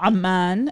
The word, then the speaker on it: Amman: Oh, Amman is how you pronounce it in Arabic.